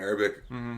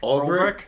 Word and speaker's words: Ulbrich: Yeah, and I think he can flourish in the system that Saleh and Urbic, I think I'm pronouncing our defensive... Ulbrich? Yeah, it's UL, so Ulbrich.